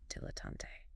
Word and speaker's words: dilettante: Stress mainly on the first syllable, slight stress on the last. 3 syllables. Dilettante.